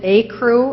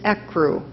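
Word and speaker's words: ecru: it from a Latin word a crew I pronounced it a crew and alternate pronunciation which Jew just voiced is a crew a crew II see are you a crew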